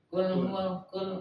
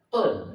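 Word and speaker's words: قُلْ: Nah karena kalau orang enggak tahu tulisannya bacnya kul gitu kan. Nah ngambang. Kalau kita oh itu huruf q berarti kita berusaha untuk memfasihkan bacaan kita qul gitu kan qul qul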